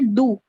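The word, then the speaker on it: deux: as do okay and d-e-u-x is also pronounced as do okay yeah though I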